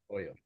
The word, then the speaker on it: Hoyo: Hoyo. H is silent, right?